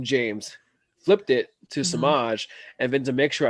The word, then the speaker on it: Semajh: and um yes we're gonna say my name samaj um so i'm sure you all can imagine